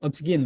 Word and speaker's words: ObGyn: Oh ya, OBGYN, Obsgyn bacanya.